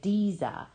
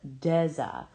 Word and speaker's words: Deza: They say Diza instead of Deza, just like the first syllable of a desert, like the Sahara, which is geologically an arid, huge part of Africa.